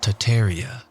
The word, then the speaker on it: Tartaria: Tartaria, originally pronounced Tataria without the first R, is the name of the pre-Molian Empire that originated in northern Asia before spanning the entire northern hemisphere.